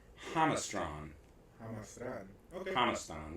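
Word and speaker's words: Jamastrán: She said in Honduras it's pronounced Hamastron. Hamastron. Okay. Hamastan with the accent on the first syllable.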